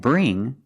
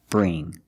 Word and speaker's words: bring: So when you see words like wing, sing, and bring, you see the combination of ing, you know it's a long E sound like green beans. Listen to the sound. Wing, sing, bring. That's a long E, not a short I.